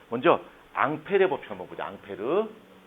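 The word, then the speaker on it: Ampère: 자, 일단 자, 먼저 앙페르의 법칙 한번 보자.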